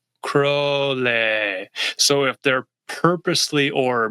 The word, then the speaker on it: Crowley: There's people that say Alistister Crawley and then people who know him, it's Crowley.